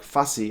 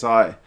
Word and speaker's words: Fassi: But man, they were butchering some of those Sharks players' names, like Fussy. I'm pretty sure it's spelled Fassi. There's no U in that name, but Willie Losse kept calling him Fusi.